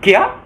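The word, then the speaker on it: क्या: dalam bahasa Indianya itu kiat tulisannya Kya dibaca Kia itu kalau mengapa itu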